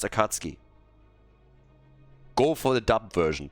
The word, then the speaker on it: Akatsuki: right also another PSA here for the Germans that are listening here it's pronounced akatski go for the dub